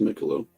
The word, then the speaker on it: Michelob: It's pronounced Michelob, but it's 12 ounces.